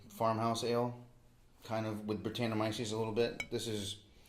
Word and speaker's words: Brettanomyces: Brettanomyces.